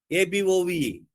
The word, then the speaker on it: above: అలాగే ఏతో ఉండే అన్ని వర్డ్స్ తో కూడా ఏతో స్టార్ట్ అయ్యే ABOVE. Above. Again. Attend, alone, allow. The words and the stress will be on the second syllable.